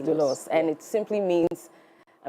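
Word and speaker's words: δοῦλος: So, um it is pronounced dulos. Dulos. That's what I said. Yes. It's pronounced dulos.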